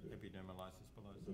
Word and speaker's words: epidermolysis bullosa: are available for, I don't know how to pronounce what you said, bullosa? Epidermolysis bullosa.